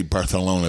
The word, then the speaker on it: Barcelona: Now, I say Barcelona because that is actually the proper way to say it. We've talked about this. Yeah, and now my wife gets upset at me because she says it's Barcelona. Oh, wait a minute.